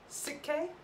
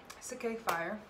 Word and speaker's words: Sik-K: We are reacting to, I might pronounce this wrong, Sik-K? Sik-K, yeah, I think Sik-K.